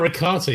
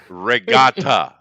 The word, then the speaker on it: regatta: you can't do it yeah not ricotta yeah you miss me mispronounced that I did not I put a g in there um no he did not oh you didn't Regatta is that better oh now I understand